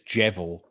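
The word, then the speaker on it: Djevel: band like emperor faust i don't know how to pronounce it i'm not norwegian but d j e v e yeah that is probably one of the most interesting i think it's i think it's jevel but it dude it's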